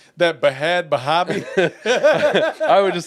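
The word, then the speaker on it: Bhad Bhabie: They said Bad Bobby, whatever.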